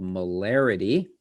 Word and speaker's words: molarity: concentration and it's called molarity and you would pronounce it kind of like density density molarity molarity the abbreviation for it